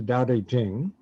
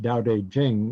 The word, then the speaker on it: Dao De Jing: the most famous work in taoism is the daodejing and you'll see older editions you'll see spelled like you have it at the top on